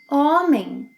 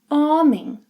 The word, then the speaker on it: homem: Unlike English, the letter H is not pronounced in Portuguese. And every time a word ends with M or N, it means that you must nasalize the preceding vowel. So, silent H, O, men, em, nasalized. Homem.